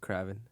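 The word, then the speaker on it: Kraven: that series it it revolved around Craven it's pronounced Craven on off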